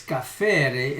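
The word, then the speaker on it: kaphar: en español escapear pero en hebreo es café es casi como café se escribe k a p h e r café Así que hacer significa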